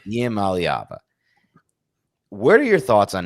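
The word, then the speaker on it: Iamaleava: Nico and I believe it's Ayaleva. Is that how you pronounce it? It's Iava. Iava.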